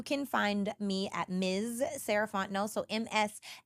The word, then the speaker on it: Sarah Fontenot: again my name is sarant no and you can find me at Ms saraon no so Ms s a r a h fo o n t n o t the t is silent um that's me on